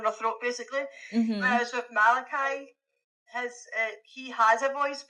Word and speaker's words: Malachi: Um Malachi, is that how you correctly pronounce his name? Malachi.